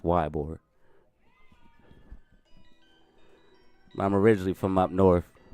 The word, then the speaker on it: Ybor: I say it like Ebor because I'm from up north, but I know it's pronounced Ybor.